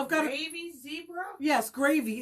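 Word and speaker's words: Grévy: It's spelled, maybe there's a better way of pronouncing it, but it's Grevy, and that was actually a person. Was named after the person who kind of like officially identified them. I think it was a Frenchman. So I might be mispronouncing it, but it's like Gravy.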